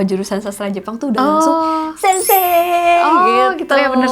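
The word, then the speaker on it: 先生: jelas-jelas gitu ya satelit sensi gitu gimana tuh harusnya kalau ini pengucapan yang Betulnya itu adalah Sensei itu wahahahaha tanggal ragajaya kalau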